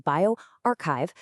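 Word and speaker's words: bioRxiv: Now, it's a pre-print on bioarchchive, and remember that's pronounced bioarchchive, so it hasn't gone through peer review just yet.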